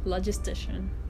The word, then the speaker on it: Logistician: Logistician. Yes, that's how you pronounce it.